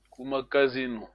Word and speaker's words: kumakazino: Makazino. Kumakazino. Yes, this is a long vowel.